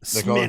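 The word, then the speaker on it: Smithwick's: uh pretty common one SCH Smithwick smidi they call Schmid it's Smithwick but they call yeah it's spelled Smithwick but it's SMI SMX that's how you say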